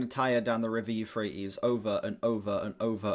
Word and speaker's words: Euphrates: River Euphrates? I think that's the Euphrates, is how you say that.